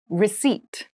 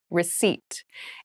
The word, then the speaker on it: receipt: meal room service meal receipt receipt receip receipt has a very interesting spelling there is a p in the spelling of this word but we do not pronounce it the pronunciation is receipt a receipt is a